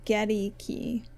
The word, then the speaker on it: Goedeke: So the Buccaneers site is saying you pronounce his name Goedeke.